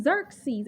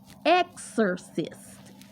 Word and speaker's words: Xerxes: this person screwed up looking at the name Xerxes and pronounce it Exorcist what is an exorcist